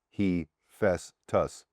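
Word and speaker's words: Hephaestus: Heestus is pronounced he fesus.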